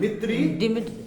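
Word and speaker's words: Dmitri: मित्री मेंडलिव्स। डी नहीं, D silent होता है। साइलेंट को मित्री को यहां नहीं पढ़ेंगे, ये स्पेलिंग में आएगा, लेकिन इसको नहीं पढ़ा जाता है।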